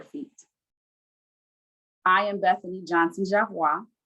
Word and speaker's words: Javois: I am Bethany Johnson Javois. Last name is pronounced Javois.